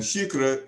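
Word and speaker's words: xícara: would say um now she is spelled x i k r a with the x having an sh sound and shikra is an alternative word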